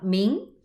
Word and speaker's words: Ming: Y las 3 últimas dinastías, que son la dinastía Yuan, la dinastía de los mongoles, la dinastía Ming, que era otra época de 300 años de prosperidad, y la dinastía Qing, que es la última.